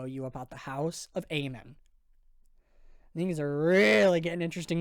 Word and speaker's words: Amon: Now, King pronounces Aean a couple different ways over these two albums, but the majority of the time he says Aean as opposed to how he says it on the album here, which is Aman.